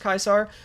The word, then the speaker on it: Caesar: Wasn't Caesar pronounced Kaiser? So that's a yes, technically. It's, yeah, basically. That's where it comes from, I think. If you've ever played the game Fallout New Vegas, they pronounced Caesar Kaiser there.